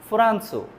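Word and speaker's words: フランス: যাই হোক এরপরে ফুরান্সু। ফোরাসু শব্দের অর্থ হল ফ্রান্স। ফ্রান্স উচ্চারণ প্রপারলি জাপানিজে আসবে না। যেহেতু এজন্য ফুরান্স উচ্চারণ হয়।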